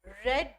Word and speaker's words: read: हमने यहाँ पर इसको क्या पढ़ा है, ही हैज नॉट रेड the book, रेड। ठीक है, तो इस चीज का भी आप ध्यान रखेंगे, प्रोनाउंसिएशन का भी।